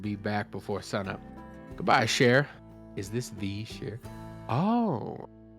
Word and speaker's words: Cher: No, like it's Sh- Shay from what we got from actual people who do speak the language. Yeah. We've been advised that it's like Shay.